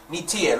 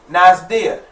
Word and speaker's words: Neter: Let me spell it for people who are not familiar. Nitir. Let me just say it real quick because I'm getting open. You know how I get, y'all. You know, I like the flow. But Nitir, N-E-T-E-R, Nitir. You see what I'm saying? Pronounced maybe some too. You may see other family members pronouncing it like Nazdir.